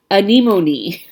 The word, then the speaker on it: anemone: You are so funny, because you guys do this too, and Lynette wrote anemone. She wrote it out on the note. She wrote anemone. She spelled it phonetically for me.